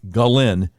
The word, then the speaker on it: Ghislaine: So the correct pronunciation sounds almost like the male name, Glenn. Her name is pronounced Ghislaine Maxwell.